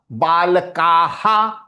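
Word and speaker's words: बालकः: Now that Ha, half karo. Ha. Ka, Ha. Balakah, balakaha. Balakah, balakaha.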